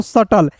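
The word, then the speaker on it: subtle: बी का भी नहीं होगा।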